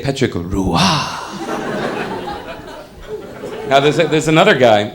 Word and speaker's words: Roy: the Montreal Canadian named Patrick Rua okay he's the gender his real name is Patrick Ro y Patrick Roy well the French don't want to say Roy they want to say petrick Rua now there's there's another